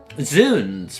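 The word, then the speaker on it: Zounds: The sounds is pronounced with the same kind of oo as in soon. Okay, hang on. Let me reread that then. Zuns.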